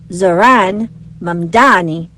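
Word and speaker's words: Zohran Mamdani: Babel said his name, which should be pronounced Zoran Mani, was most commonly mispronounced when people swapped the M and N in his last name.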